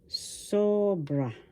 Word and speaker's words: sobra: Sobra. First syllable so. Second syllable bra. The accent is in the first syllable sobra.